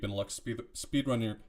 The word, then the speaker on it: Benelux: Am I pronouncing that correctly? Yeah, Benelux.